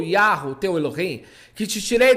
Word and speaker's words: Yahweh: É a pronúncia Yahweh, o Deus de Abraão, o Deus de Isaac, o Deus de Jacó não é uma trindade.